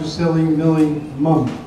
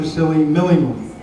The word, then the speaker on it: Sillimillimum: And I appreciate that, but everything was right, Adrian, except for the accent. It's not Dr. Sillimillimum. It's Dr. Sillimillimum.